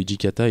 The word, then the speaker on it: Hijikata: appris récemment qu'en fait le Hijikata était un hommage à Jean Jeunet en fait c'est la prononciation japonaise de jet d'accord ah bah on